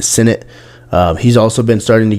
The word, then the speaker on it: Sinnott: Ben Sinnott, however you want to say his name, I believe he pronounces it Sinnott.